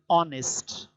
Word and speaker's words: honest: They are silent. They are not pronounced, and they gave the sound of an hour, an honest, an air.